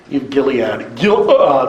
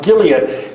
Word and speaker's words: Gilead: Gilead, there's a silent letter in there.